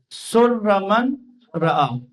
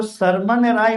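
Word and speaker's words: سر من رأى: تھے۔ سر من رعا، ہم اپنے بچپنے میں اس کو سرمن رائے پڑھا کرتے تھے۔ ہم اس کو نا سرمن رائے کہہ کر، کیونکہ ہمارے اردو تلفظ میں جو لکھا ہوا وہ سرمن رائے ہی تھا، لیکن بعد میں جب عربی سے آشنا ہوئے تو پتہ چلا کہ یہ لفظ ہے سر من رعا، یعنی دیکھنے والی آنکھوں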